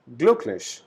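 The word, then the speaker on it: glücklich: as u very similar to english so we pronounce it gluch that is happy then sad traverse beautiful huge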